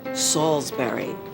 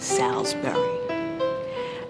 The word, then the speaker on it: Salisbury: So this is the way you pronounce the word. It's Salisbury, not Salisbury.